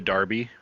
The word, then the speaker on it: derby: Do you want to call it a derby? I don't even want to call it a derby. Yeah, first of all, we're American, and we don't need to pronounce that E as an A.